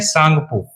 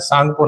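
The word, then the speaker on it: Tsangpo: तिब्बत में ब्रह्मपुत्र का जो नाम है ये बहुत बार क्वेश्चन आया उसको बोलते हैं सांगपो लिखने में टी आता आगे टी साइलेंट है टी नहीं आपने यूज़ करना सांगपो नाम है इसका क्या नाम है सांगपो और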